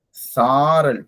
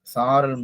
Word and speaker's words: சாரல்: அடுத்ததாக சாரல். சாரல் போது அது நெடிலிருந்து உச்சரிக்கணும். அதாவது வந்து சா சொல்லும் போது 2 மாத்திரை அளவு.